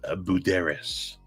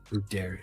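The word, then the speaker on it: Buderus: mind but just so you know that's that's pronounced bueras bueras Mega star um indirect but yeah I knew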